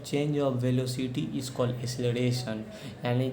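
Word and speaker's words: acceleration: और एक्सक्लरेशन, इसको एक्सक्लरेशन नहीं पढ़ाता है, इसको एसिलरेशन पढ़ा जाता है। ठीक है। इसका एग्जैक्ट प्रोनाउंसिएशन होता है एसिलरेशन।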